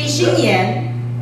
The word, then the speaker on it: Shinyen: My name is Shing Yen. That nobody can pronounce it right. Even I can pronounce it right. It's supposed to be Shinyen.